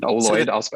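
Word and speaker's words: Oloid: Ooid, if you're Yeah, if you're listening, it's spelled O L O I D.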